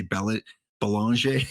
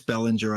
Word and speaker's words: Bellinger: So we saw the Marcus card, and yeah, it is Bellinger. I'm sorry, I'm Canadian, and sometimes when we see names like that, we put the French pronunciation because there's a lot of French-speaking people around here, so I always say Belanger. But yeah, it's Bellinger, I would imagine.